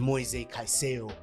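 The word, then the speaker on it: Caicedo: Midfield three of Co Palmer Romeo Lavia and mo kaiso finally saying it correctly because of that video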